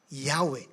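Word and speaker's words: Yahweh: wh wy okay ay bibigkasin as yahwe yahwe sabihin nga yahwe at ang Latin equivalence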